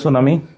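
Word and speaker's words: tsunami: মানে এই বানানগুলোতে একটা এক্সট্রা অ্যালফাবেট প্রথমেই থাকে, যেমন টি আর এস থাকলে সেই টি এর উচ্চারণ হয় না, এস এর উচ্চারণ হয় ইংলিশে।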